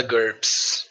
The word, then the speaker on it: GURPS: GURPS. A gente fala GURPS mesmo.